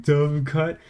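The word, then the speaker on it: dovecote: Actually, it's pronounced like you're drunk and slurring the words together like dove cut.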